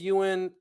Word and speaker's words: Eoghan: It's Gaelic. It's Eoghan. It's pronounced Ewan, and it's Okay. yeah. Yeah, yeah. My name is Ewan, and though we've